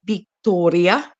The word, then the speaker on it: Victoria: it's said in Spanish Victoria with a with a soft B Be chica be Grande v a V and a b are pronounced the same like they called me